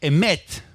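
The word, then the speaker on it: אמת: En el alefato hebreo, la palabra verdad es emet.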